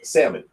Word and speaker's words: salmon: the Helen salmon is silent. Really? Oh man, this world means nothing to me now. What? Wait. So is it Salmon. salmon?